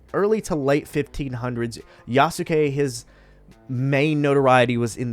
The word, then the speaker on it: Yasuke: His name is Yasuke. Now, I looked up that pronunciation to make sure I got it right because it's important.